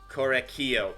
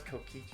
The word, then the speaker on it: Kokichi: The fact that that it was able to turn around and say, Korekio. Why did I pronounce Kokichi? Korekio.